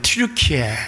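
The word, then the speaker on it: 튀르키예: 옛날엔 터키라 그랬는데 요즘은 좀 말이 좀 어려운 거 같아요. 트루키에 이렇게 발음하돼. 트리키의 지방이에요.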